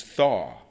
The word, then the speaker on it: Thaw: It's Thaw as in Thaw. Thaw. Just every Just give everybody just get get those chips of ice off your shoulders and just thaw.